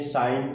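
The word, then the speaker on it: sign: यहाँ देखें साइन, साइन में भी देखें जी एन क्या है, यहाँ पर दोनों साथ साथ आए हैं तो इसमें जो जी लेटर है वो क्या है, साइलेंट है।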